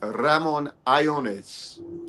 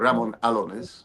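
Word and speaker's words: Ramón Allones: It was the Ramon Iones. Some people like to call it Ramon Alones, but Iones.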